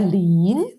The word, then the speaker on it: 林: Y cuando son 2 mu, 2 radicales, se convierte en esto, que significa y que se pronuncia lin. Lin significa madera.